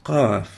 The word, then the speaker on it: قاف: Qaf is similar to kaf, ik, but is pronounced further back in the mouth.